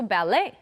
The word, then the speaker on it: ballet: don't pronounce the T also ballet do you like the ballet I love going to the ballet again we don't pronounce the T bere filet ballet okay